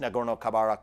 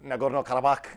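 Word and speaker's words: Nagorno-Karabakh: end of the first nagoro kabarak war and I know that's not the that's that's an Americanized pronunciation nagoro kabak something like this will be the correct pronunciation but for purposes of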